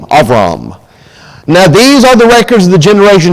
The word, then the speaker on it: Abram: was called of Rama is the way he pronounced into the Hebrew it's all wrong Abram Avram now these are the records of the generations